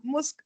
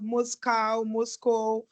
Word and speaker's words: MoSCoW: It's actually MSCW, but so that it is pronounceable. That's why they put the O, and now you have Moscow, whatever.